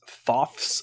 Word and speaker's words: Thoth: to tell you that apparently the most common pronunciation is thoth he is the egyptian god of learning and writing but anyway this is toff's estate this is home